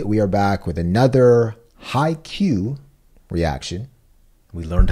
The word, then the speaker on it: Haikyuu!!: So, Jared, first of all, as you mentioned, the show is pronounced Haikyuu. Yeah. Simple. Haikyuu going forward.